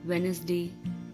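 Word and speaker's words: Wednesday: fridge पढ रहे हैं कुछ और वर्ड्स जैसे handsome hanker चफ वेनसडे and sandwich इनमें भी डी की साउंड नहीं आ रही है ओके एफ की जो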